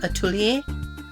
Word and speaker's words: atelier: For the longest time, I didn't know how to pronounce it, but I think that I've settled on understanding that it's pronounced like atelier.